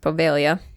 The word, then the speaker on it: Poveglia: Poveglia Island, weirdly enough, there's a G in there somewhere. Okay. Yeah, it's just pronounced Poveglia.